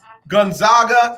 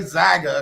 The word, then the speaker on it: Gonzaga: but this game tonight gonzaga and baylor gonzaga and baylor let me say zaga because you know obviously i put the accent on the wrong place gonzaga and baylor it's